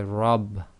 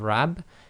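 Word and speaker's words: رب: you cannot say my R you say my Rob so that's why it's Rob instead of RAB is because the letter ra with f must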